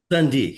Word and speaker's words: Sunde: Am I pronouncing that right, Sunde? Sunde, yeah.